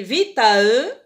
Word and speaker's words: vitae: Ça s'écrit ici vitae, ça se prononce vitae.